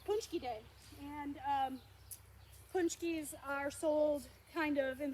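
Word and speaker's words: pączki: there and make homemade punchkis. And I don't know if you know what punchkis are. Punchkis, it's spelled P-A-C-Z-K-I.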